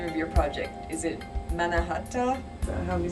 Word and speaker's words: Mannahatta: pronounce the name of your project is it manahatta do i help you say it yeah i call it the manahata product i think you had the goal of